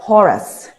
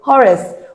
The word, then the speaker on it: Horace: Some pronounce it as Horus. Okay, so Horace, what do you say to our smallholder farmers who cannot afford an Oggun tractor?